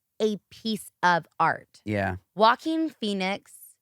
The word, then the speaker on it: Joaquin: Joaquin Phoenix. Why does it sound like Walking Phoenix?